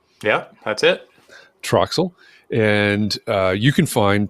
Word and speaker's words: TRXL: podcast to the host called Trel am I pronouncing it correctly yeah that's it Troxel and uh you can find Troxel and arase